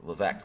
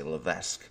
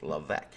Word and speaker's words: Levesque: term, you know, Levesque, my name, right? That's actually how you pronounce it. I don't know if you guys know, a lot of people say Levesque. It's actually Levesque.